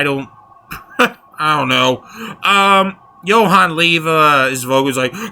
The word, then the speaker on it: Johan: The Jay is silent, I guess. So, again, they're sweet and banan. I don't I don't know. Um, Johan Lea, his voc like